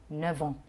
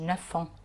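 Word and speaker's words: neuf ans: نوع من الوصله كده، الاف بحولها لفي في النطق في، فبقول نوفون. ما بقولش نفون، بقول نوفون.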